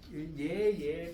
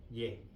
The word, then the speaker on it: 얘: 자, 얘 발음할 때는 혀가 가운데 와야 돼요. 얘. 아, 얘. 예. 얘 발음할 때는 아래로 가야 돼요. 얘. 오케이? 비슷하지만 다른 겁니다.